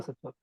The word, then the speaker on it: Sattva: Otherwise, it is Sattva only, Prabhu. Okay? okay. Yeah. Vasudeva Sattva.